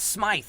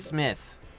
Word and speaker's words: Smythe: smythe i believe oh oh it's smythe not smith no no okay oops